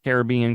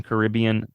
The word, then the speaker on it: Caribbean: swashbuckling Adventure through pirate infested Caribbean Caribbean depending on how you say it World um it opened